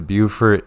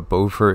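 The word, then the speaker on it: Beaufort: um there is a buurt in South Carolina and there's also a bower in North Carolina or is it the opposite way around they're spelled the same but pronounced differently but anyway what happens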